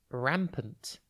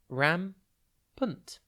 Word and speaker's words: rampant: time today's word is rampant it's pronounced ram punt and it's spelt r